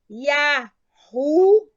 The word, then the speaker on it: Yah: todos os estudiosos que a sua pronúncia é Yah, tá? Yah, gente, não tem dúvida que é Yah, tá? Yah, Y-A-H.